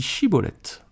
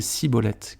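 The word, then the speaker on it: Schibboleth: Il lui disait alors « Eh bien, dis Chiboleth », et il disait Siboleth, car il ne pouvait pas bien prononcer.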